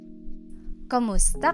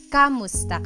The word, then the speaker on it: kumusta: Kumusta ka? Kumusta ka? So it's spelled K-U-M, kumusta ka. But sometimes you might hear some people say kamusta ka, like it's a K-A sound.